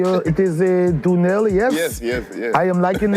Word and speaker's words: Donnell: How do you say it is Dunell?